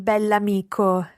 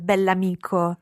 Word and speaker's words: bell'amico: Il bell'amico. Il bell'amico. And it's very important to pronounce the adjective and the noun as one word, bell'amico.